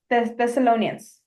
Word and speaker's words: Thessalonians: struggling on the pronunciation. Thessalonians. So first, Thessalonians, second, Thessalonians, Thessalonians.